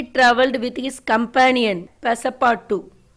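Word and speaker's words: Passepartout: This is the story of हाउ he travelled with his companion पैसापार्टू. Okay, UT is silent. This is a French word.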